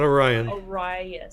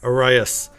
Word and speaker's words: Arias: Or it's not Orion. Arias. Arias.